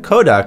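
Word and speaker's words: コダック: It's funny to mention that Koduck is spelled and pronounced the same exact way as Kodak, the camera film company, when it's said in Japanese.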